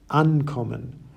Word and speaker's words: Ankommen: Separable verbs, on the other hand, have their stress on the separable prefix itself. Ankommen, aufstehen, and zuhören.